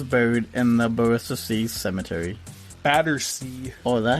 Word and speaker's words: Battersea: Battersea. Oh, is that how you say it? Battersea? Battersea. What'd I say? Bristacy.